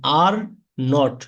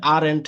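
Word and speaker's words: aren't: হ্যাঁ, এখানে এই যে আর নট দুইটার কন্ট্রাকশন রূপ একসাথে করলে এটা ব্রিটিশ আই এন।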